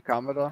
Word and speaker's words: Kamada: How do you pronounce Kamada? Daichi Kamada.